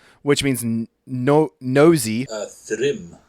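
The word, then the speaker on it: Thrym: Uh Thrim. Thrim. That's how it's pronounced. Thrim.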